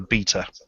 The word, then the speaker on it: B3ta: it anything other than beta. Apologies. Yeah, he's really funny about that. Well, that's what you get for spelling it with a bloody 3. I know, it's rhymes with Peter.